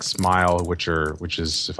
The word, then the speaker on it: SMIL: the web with it smell it's it's officially pronounced smile but I'm getting I